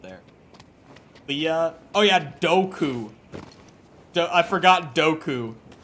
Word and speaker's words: Dooku: saying the name's wrong who said doku that's how Lucas says it in interviews that's how George Lucas pronounces it never once corrected